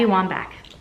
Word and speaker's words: Wambach: Pack by Abby Wambach Wambach I think I'm pronouncing her name right I listened I looked that up to Abby Wambach I got it I really really like this